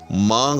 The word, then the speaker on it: مانگ: نون غنہ ہے، جی ہاں۔ اسی طرح سے مانگ رہا ہوں یا مانگ رہا ہوں، ٹھیک، اب مانگ اور مانگ، یہاں بھی کیا ہے؟ یہ نون غنہ ہے، جی ہاں۔ اسی طرح سے میں